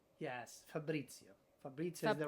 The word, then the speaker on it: Fabrizio: it was a struggle to have my name pronounced correctly okay so I'll do it again Fabrizio yes perfect it's okay well fa Fabrizio uh